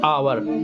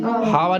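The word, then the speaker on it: hour: इसे क्या पढ़ते हैं आवर हावर नहीं पढ़ते क्या पढ़ते हैं आवर इसे पढ़ते नाइफ इसमें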